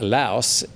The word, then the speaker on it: Laos: my understanding is that laos you do pronounce the s but when you're using it as an adjective you say lao so the lao people